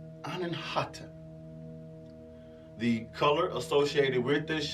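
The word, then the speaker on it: अनाहत: The Sanskrit word is pronounced Anahata.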